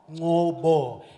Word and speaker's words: Ngcobo: And since Darren struggled with my name so much, it's actually pronounced Nqoba, Ngcobo.